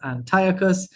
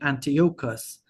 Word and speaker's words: Antiochus: I've been mispron mispronouncing Antiochus. MacArthur said it as Antiochus. I prior to this was saying Antious and I admit to my mistake.